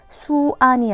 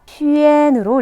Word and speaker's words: xuan: 내 이름에 XUAN이 있다 하는 친구들은 읽을 때 수안이 아니라 점땡U로 바꿔서 슈엔으로 읽어줘야 한다는 거예요.